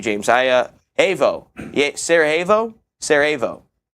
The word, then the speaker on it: Sarajevo: Sarajevo.